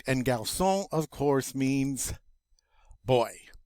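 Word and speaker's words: garçon: the next one and remember that c with the sadia tells us that that hard c is now going to be pronounced like a soft c all right and gaussian of course means boy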